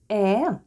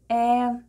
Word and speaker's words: Э: E. E.